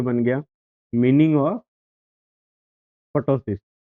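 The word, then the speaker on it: ptosis: एमसीक्यू बन रहा है आपका, एमसीक्यू बन रहा है, पहला एमसीक्यू तो ये बन गया, मीनिंग ऑफ पटोसिस। टॉसिस भी इसको कहीं बोलते हैं, पी साइलेंट रहता है, ठीक है।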